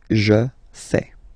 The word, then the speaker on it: fais: Remember, final S not pronounced. Je fais.